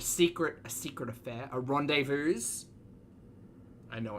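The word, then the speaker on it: rendezvous: living o a secret a secret affair a Rendevous I know it's pronounced rendevu his own soil like a lust filled rendevu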